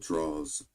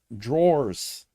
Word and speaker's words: drawers: It's actually pronounced drawers. Drawers? I didn't know that. Draws is like a inner city way of saying it. Like it's not pronounced jaws, it's pronounced drawers. Almost like drawers that you pull out Drawers. on your cabinet.